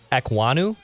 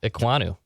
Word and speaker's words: Ekwonu: Last name, small ECK hyphen capital WAHN hyphen small EW. I think you're damn close, if not. Akeem Ekwonu.